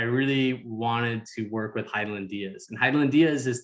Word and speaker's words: Hidilyn: Heidelin.